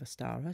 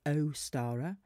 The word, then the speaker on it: Ostara: Now, there are different pronunciations of Ostara. Some I've heard is Ostara, and there are other ones which is the soft version, which is Ostara.